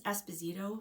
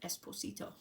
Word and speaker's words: Esposito: say it like that, Esposito, and I'm like, that's so cute. It's just Esposito, like it's a Z sound, but it's cute.